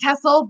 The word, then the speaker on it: TESL: I pronounce it TESL, but that is not, there is no definitive. Some people say TESOL, some people say TESL. It's like tomato, we'll accept both.